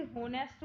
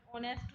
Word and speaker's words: honest: अब देखो, अब आप इसे होनेस्ट बोलते हैं बट ऑनेस्ट होता है ये, इतने बोला जाता है, एच साइलेंट होता है, ठीक है।